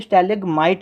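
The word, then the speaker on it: stalagmite: स्टेलेगमाइट बोला जाता है।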